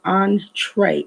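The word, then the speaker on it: entrée: means at all but entree pronounced just the way i said it on like on hyphen t-r-a-y tray on tray it is a french word and in america and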